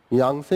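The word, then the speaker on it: यांगत्से: chalk and देब संग यह है टी यहां पे थोड़ा सा साइलेंट हो जाता है यांग से इन अरुणाचल प्रदेश यांग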